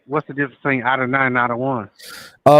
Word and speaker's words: Adonai: Uh well, Adonai is a um is another dialect or it's another pronunciation. It's uh it's like what they try to call modern Hebrew. Adawan is the uh ancient is the uh lashwa how the lashwan cuadash is pronounced.